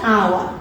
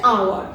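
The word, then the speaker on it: hour: এটার উচ্চারণ হচ্ছে আওয়া। আমি দেখতে পাচ্ছি, স্পষ্টভাবে দেখতে পাচ্ছি এইস, কিন্তু এর উচ্চারণটা হচ্ছে আওয়ার। এখানে দেখো এইস আছে ফার্স্টে, কিন্তু এর উচ্চারণ কি এইস এর মতো হচ্ছে না।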